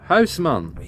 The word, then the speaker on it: Huisman: know of mark hey that's a dutch name houseman would be how it's pronounced i don't know how